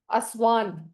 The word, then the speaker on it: Asvan: Chant करना है ASVAN, असवान। इसका प्रोनाउंसिएशन होगा असवान, असवान।